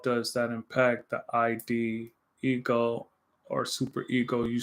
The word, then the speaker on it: id: Rhymes with hid. Id. Id. Okay.